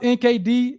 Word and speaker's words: NKD: It's pronounced NKD. It's spelled NKD.